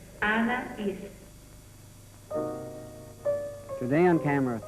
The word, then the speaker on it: Anaïs: It's Anaïs. Anaïs. Anaïs.